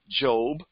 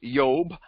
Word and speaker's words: Job: anymore by the way his name is pronounced job or uh in the latin or greek it's yob i ob in greek and uh eob and in a hebrew and so we call him job and i now now